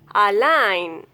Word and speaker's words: align: If a word ends in GN, then letter G will be silent. Align, assign, design, sign, design, consign, campaign, ran, foreign.